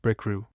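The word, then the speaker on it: Bricriu: FN number 11, pronounced Brickrew.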